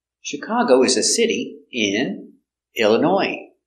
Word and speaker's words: Illinois: is a city in Illinois Illinois comes from French too so we have a silent s in French words they have S at the end it's silent so Chicago Illinois not Illinois no s